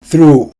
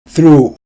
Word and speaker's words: through: through, 무엇을 통해. through, 무엇을 통해. 맨 끝에 있는 GH는 발음되지 않습니다.